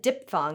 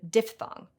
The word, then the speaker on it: diphthong: English speakers may find it counterintuitive to have a PH and a TH right up against each other, which probably explains why this word, meaning 2 vowels pronounced as 1 syllable, is so often said diphthong instead of diphthong. Even more counterintuitive is the fact that diphthong isn't a compound of diff and thong.